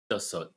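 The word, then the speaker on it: 다섯: Dasot. Dashot.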